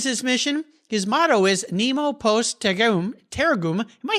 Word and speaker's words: Nemo Post Tergum: Nemo Post Tergum. Tergum. There we go. Absolutely. And if you translate that beyond my lousy pronunciation, no one is left behind.